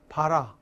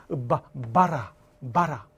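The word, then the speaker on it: 薔薇: 이 발음할 때 그냥 바라 아니야. 바라.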